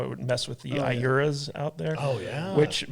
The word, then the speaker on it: Iura: is and how it would mess with the Iuras out there.